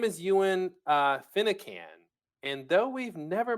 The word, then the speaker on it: Eoghan: It's Gaelic. It's Eoghan. It's pronounced Ewan, and it's Okay. yeah. Yeah, yeah. My name is Ewan Finnecan, and though we've